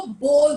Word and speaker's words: bowl: Stomach में जो movements होते हैं या बाउल्स जो होते हैं उनको बाउल बोलते हैं, इसको बोल बोलते हैं. इन दोनों का स्पेलिंग भी डिफरेंट है.